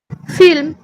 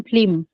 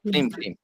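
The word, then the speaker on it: film: আমি এখানে কি লিখলাম ফিল্ম ফিল্ম কয়েকজন বলেছ সাহস করে আর সুরভীপ পাত্র বলতে পারো নাকি ফ্লিম ফ্লিম হ্যাঁ এইতো ঠিকই বলেছে ফ্লিম এটা সম্পূর্ণ একটা ভুল উচ্চারণ করলো অর্পিতা পাল এবং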